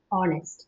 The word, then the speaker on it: honest: நம்ம வந்து ஹானஸ்ட் அப்படின்னு we should not pronounce. It is honest. Honest. ஏன்னா ஹெச் வந்து சைலண்ட்.